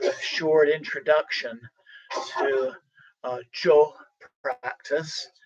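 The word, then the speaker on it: Chöd: short introduction to uh joe practice it's usually spelled c h o d the the d is silent and this is a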